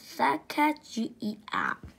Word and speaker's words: Sacajawea: Hello, this story is Sacajawea. Her true story. This is the true story of a young American Indian girl. She lived 200 years ago. Her name was Sacajawea. You say it like this, Sacajawea.